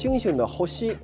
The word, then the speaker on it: 星: It just shows the pronunciation. To give another example, it is read as HOSHI, the Kanji for "星" in Japanese.